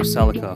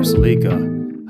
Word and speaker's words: Celica: integra and a 94 celica or seleka however you want to pronounce it our mechanic at the